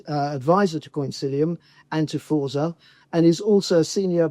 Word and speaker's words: Forza: fora to you but I have to pronounce it in the Italian word which is Forza which means power strength